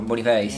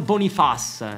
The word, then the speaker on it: Boniface: Io conosco Bonifazio, Boniface. Boniface, ma come lo chiami? Victor Boniface, si dice. Ma no, Boniface. Allora ragazzi, fateci sapere qui sotto nei commenti come si pronuncia.